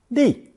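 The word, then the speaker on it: 立: Pronounced fourth tone, li, li.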